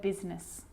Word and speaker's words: business: R rhythm or rhyme good news that I is not usually silent it's usually pronounced except in the word business okay okay now I